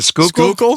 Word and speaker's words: Schuylkill: The Schuylkill?